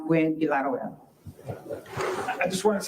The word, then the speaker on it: Gwinn-Villaroel: But it is pronounced Gwinn-Villaroel. So it's actually pronounced Gwinn-Villaroel.